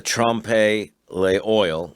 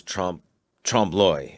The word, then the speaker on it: trompe-l'oeil: Oh, he calls it the trompe l'oil, which is trompe-l'oeil, is how you, I guess, almost pronounce it in French.